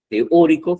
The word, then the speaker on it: teórico: yo si la veo, si yo la divido en sílabas, ahí hay cuatro sílabas, ¿no? En la palabra teórico, ¿ya? T es una sílaba, o otra, tri otra y co otra. No es teo. Teo no va juntos, son dos vocales fuertes, ¿os acordáis?